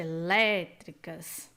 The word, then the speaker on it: elétricas: proparoxítona sim é proparoxítona agora vejamos elétricas temos aqui a última sílaba penúltima sílaba anti penúltima sílaba também com som forte elétricas e também vem acentuada então ambas são proparoxítonas exatamente